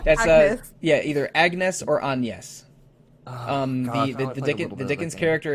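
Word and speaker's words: Agnès: didn't it far enough there's an accent over the E so they do it the French way but uh but um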